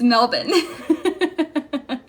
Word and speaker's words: Melbourne: Ty's here hi Ty I don't even know where I heard melbour um I think on a podcast but it seems very important to the people there that we say it properly so I always try it's melbour everyone say hi to